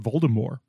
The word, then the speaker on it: Voldemort: learned from JK Rawling that's supposed to be pronounced Voldemort oh French well she said she thinks she's the only person who has ever pronounced it that way but that's how